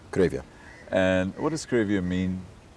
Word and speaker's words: Cravia: Uh you pronounce it Cravia. Cravia.